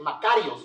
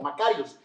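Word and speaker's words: μακάριος: es una traducción de una palabra griega que se dice makarios o se pronuncia más o menos como makarios si usted conoce a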